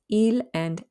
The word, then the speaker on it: ils: third person plural pronouns il now they do end with an s each but the s is not pronounced so il would refer